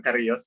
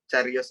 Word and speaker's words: Carios: Sebenarnya disebutnya bukan Karios, karena itu Carios ya. Carios itu diambil dari bahasa Sunda. Carios itu artinya cerita. C itu dibacanya C, yang nggak boleh dibaca K, karena kalau K jadinya bahasa Inggris.